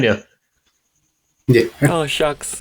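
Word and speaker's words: Shough: Oh, shucks. Not Shug. Shog.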